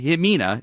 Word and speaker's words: Ximena: Ximena is when you see an X in Spanish.